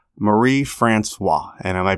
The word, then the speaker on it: Marie-France: How do you pronounce it in Canada? You'd say Marie-Francoise, but I don't care at all and don't expect anybody to say it.